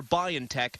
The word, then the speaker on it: BioNTech: PFIZER AND ITS GERMAN PARTNER BIONTECH FOUND THE VACCINE WAS CONSISTENTLY EFFECTIVE ACROSS RACE, ETHNICITY AND AGE.